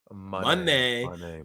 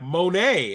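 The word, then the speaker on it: Moné: song I was like oh that's how she wants it pronounced Monday because even Kevin Kelly was like Monet and I'm like that's not what she said my name I said she said Monday it's Mercedes Monday let's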